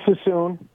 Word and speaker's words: Suisun: PJ in Suisun City, California. Am I saying it right, PJ? It's Suisun. Suisun. Okay.